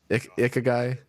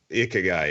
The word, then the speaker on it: ikigai: Do you know how to pronounce it? Ikigai. Ikigai.